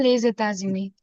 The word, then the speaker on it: les États-Unis: So why two times the Z sound? Because of two times liaison. Can you see? S plus E, Yep. S plus U.